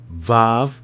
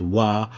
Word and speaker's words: Vav: Aleph, Beth, Gimel or Gaimel, Daleth, He or He, Vav. The V is used for a U here. So this here also is pronounced Wa or Va in some other translations.